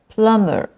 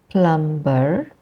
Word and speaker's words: plumber: we have words like plumber p l u m b e r but we don't say plumber the B is silence in Plumber so we say plumber